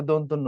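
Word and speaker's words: দন্ত্য: আরেকটা ইন্টারেস্টিং বিষয় হচ্ছে আমরা এটারে বলি হচ্ছে দৈন্তান্য। এটারে বলি হচ্ছে মদিনান্য। এটা উচ্চারণ ভুল। মদিনা এটাকে কি ধরনের কথা? এটা যদি মদিনার নয় তাহলে তো মক্কার ন হওয়ার কথা। একটা মদিনা একটা মক্কা নাকি? তো এভাবে উচ্চারণ করা যাবে না।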